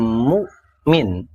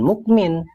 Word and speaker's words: Mukmin: seolah suara itu dipotong kayak huruf k pada kata Mukmin dibacanya bukan Mukmin tapi Mukmin Min mu mu itulah glotal untuk membedakan mana Alif